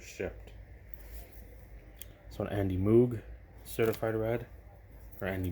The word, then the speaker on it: Moog: So an Andy Moog certified red, or Andy Moog, I should say. That's Moog is how it's spelled.